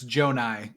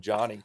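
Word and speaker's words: Johni: It's Joe Nai. Yeah. Yeah. Calling him Johnny. I was I was I literally we did a podcast like a month ago where I kept calling him Johnny Broom and then I watched Auburn Michigan State the next night and I was like, "Oh my god, I've been saying his name horribly wrong this entire cycle."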